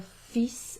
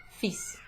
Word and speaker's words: fils: This one is fils, fils, to rhyme with fleece, okay, but without the L, fils.